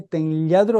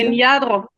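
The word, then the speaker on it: Tenladro: 19 sí Y es José ten ladro así se pronuncia ten ladro tiene diferentes maneras de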